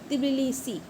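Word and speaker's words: Tbilisi: तिबिलिसी। बिलिसी, तिबिलिसी, तिबिलिसी। इससे क्या है, स्पेलिंग भी आपकी गलत नहीं होगी अगर टी लगाएंगे आगे, तो तिबिलिसी, तिबिलिसी, तिबिलिसी, तिबिलिसी।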